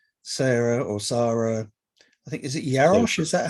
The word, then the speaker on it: Jarosz: I think, is it Jarosz? Yeah. Is that how you pronounce that? Sarah Jarosz. Jarosz.